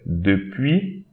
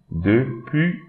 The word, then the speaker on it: depuis: Don't pronounce this S, depuis, depuis, I, depuis. Don't pronounce this I, une.